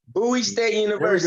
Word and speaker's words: Bowie State University: Pronounce it for me. I always say it wrong. Bowie State University.